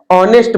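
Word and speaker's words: honest: लिखा है ही इज एन ऑनेस्ट मैन, अब यहाँ पे एच साइलेंट है फिर से, तो आप क्या लिखेंगे?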